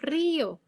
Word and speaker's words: río: La I se pronuncia separada de la O. Entonces tenemos río. Ahí hay una tilde porque está diciendo, esto no es un diptongo, no se pronuncia como horario, sino que vamos a dividir esa I y esa O en dos sílabas distintas.